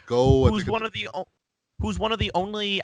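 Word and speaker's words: Gough: Shout out to Michael Go, I think is how you pronounce that name. Go.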